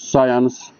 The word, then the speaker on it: science: regional defect in pronunciation most of the students pronounce science the subject science as science which is really wrong now english teachers and then it was settled that the pronunciation should be really science not science but i was surprised